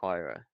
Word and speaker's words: Huayra: I think they made a very concerted effort to say Huayra. So, yeah. I think it's not, I don't think that's like the natural way to pronounce it, so I think we've learned it from somewhere.